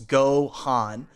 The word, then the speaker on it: Gohan: where I was like it's two syllables go Han so then I tried